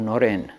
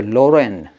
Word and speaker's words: Noren: So you would call, Narendra was called Noren in Bengal. So you say Loren.